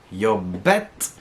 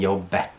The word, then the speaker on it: jobbet: So what happens if you don't pronounce the T in jobbet? Right? You lose the past tense, it goes away. And that again can cause confusion.